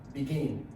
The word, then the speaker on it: begin: Okay, then begin. You can also see the stress on gain.